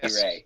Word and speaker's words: Sekirei: Yes, Sekirei.